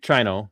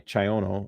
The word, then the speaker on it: Chyono: Nick Chino, that's why I kept calling him Chino. It's Chi Chyono.